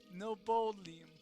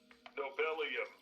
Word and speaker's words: Nobelium: Poor Dr. Nobel. Yeah. Rolling over in his grave with your pronunciation of his name. Nobolium. Nobelium, yeah.